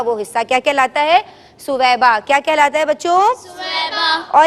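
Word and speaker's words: ثویبہ: حضرت، ہاں صحیح تلفظ کیا ہے؟ حضرت سویبہ. سویبہ. اور آج کل ہم کیا سنتے ہیں؟ اردو میں کیا مستعمل ہے؟ صوبیہ. اور عربی میں یہ اصل نام ہے کیا؟ سویبہ.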